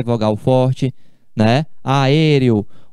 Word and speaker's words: aéreo: Aéreo. O acento é por causa da regra. Quando você pronuncia aéreo, é uma proparoxítona, é uma esdrúxula.